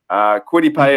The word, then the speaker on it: Kwity Paye: to go maybe defense, and we're looking into Kwity Paye. And now I've done a little bit of the AFC West already, so this is going to come into Kwity Paye. Am I pronouncing that right?